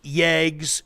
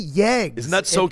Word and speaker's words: Yeg: Mini Yegs. If you're not hearing Ryan pronounce it, it's like Y E G.